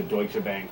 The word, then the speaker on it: Deutsche Bank: I don't think I could have pronounced Deutsche Bank, and I'm probably still mispronouncing it now. You're doing it right.